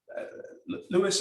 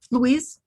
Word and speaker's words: Louise: um emotional self-harm um lewis i hope i'm pronouncing your name correctly um is that right louise louise sorry louise you you said uh